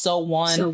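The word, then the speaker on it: SONE: about the fandom name it is pronounced so one and it literally like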